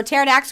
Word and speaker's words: Pterodax: This P is silent like pterodactyl. Okay, so Pterodax, which is exotic.